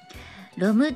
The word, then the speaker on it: ROM: でるんですよロムっていうねあの ROM と書いてロムと読みますえアコースティックのプログレ